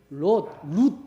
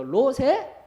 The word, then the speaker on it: 롯: 아브라함의 조카였던 룻 발음 잘 하셔야 됩니다. 롯의 큰 딸에게서 난 아들이 모압, 그리고 작은 딸에게서 난 암몬, 이렇게 되는 거예요.